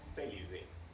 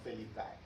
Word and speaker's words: Felidae: Los gatos son de la familia Felidae, no Felidae. No es Canidae, es Canidae. Canidae.